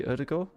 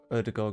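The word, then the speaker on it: Ødegaard: Other than the fact that I know that this is, I believe, meant to be Erdegaard.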